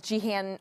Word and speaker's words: Gehan: 10 seconds okay jihan hi my name is jihan or for short thanks for